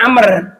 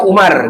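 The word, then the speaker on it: عمرو: Jadi kalau ada wawunya bacanya Amr. Kalau nggak ada wawunya Umar gitu bahasa Arab tuh ya.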